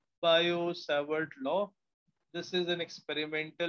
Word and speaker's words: Biot-Savart: Similarly two find the magnetic field due to current carrying wire, we have another experimental law called as Biot-Savart. T is silent. Biot-Savart law.